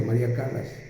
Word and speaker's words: Callas: se llamaba María Callas se escribe callas con doble l María Callas pero se pronuncia María Calas también rompía cristales con